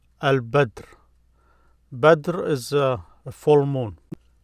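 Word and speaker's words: البدر: Here they're giving another letter, Al-Badr. Badr is a full moon. This here is just a moon in any state. Here, Al-Badr is full moon. Notice Al-Badr, Al-Badr. There is no stress mark here, Al-Badr.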